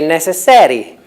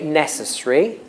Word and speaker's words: necessary: Most Italians would say necessari. It's not you, but most Italians, and that's not possible. In English, you say necessary or necessary, but you